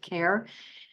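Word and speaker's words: CARHE: he e was not a mistake uh it's pronounced care I think this is the way of the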